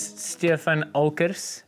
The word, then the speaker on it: Stefan Olckers: So for those who don't know, this is Stefan Olckers. Did I pronounce that right?